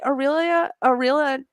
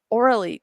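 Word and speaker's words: Aurélie: But I just want to say Aurelia Tran. Aurelie. God, why do I cannot say her name It does right? not end in an A, but yeah.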